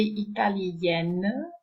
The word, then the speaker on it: italienne: So the masculine form has a nasal sound at the end, italien, whereas the feminine form no longer has a nasal, but you have N, italienne.